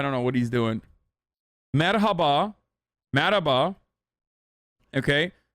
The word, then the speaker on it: Merhaba: Merhaba.